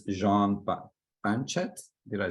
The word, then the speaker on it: Banchet: With extensive experience working alongside renowned chefs, he earned accolades such as I believe it's Jean Banchet. Did I say it right? Thank you. Banchet, that's great.